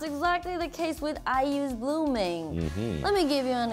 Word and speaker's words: Blueming: you Pop's friends, I decided to choose IU's Blooming. Yeah, Blooming. It's spelled B-L-U-E-M-I-N-G, right?